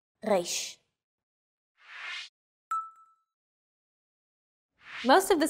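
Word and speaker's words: ריש: Three of these letters are pronounced deep in the throat.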